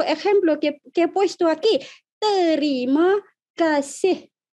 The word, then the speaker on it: Terima kasih: Terima kasih. ¿Cómo pronunciamos esta expresión? Terima kasih. Sílaba por sílaba.